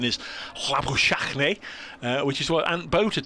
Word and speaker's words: Labuschagne: Zimbabwe is where my dentist is from, and he says Dave will be listening, and the correct pronunciation is Labuschagne, which is what Ant Boter told me this